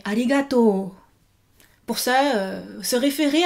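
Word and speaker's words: ありがとう: Donc ne dites pas arigato, mais arigato.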